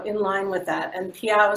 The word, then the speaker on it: Peyow: line with that and piago seemed kind of cool it rhymes with meow so we thought that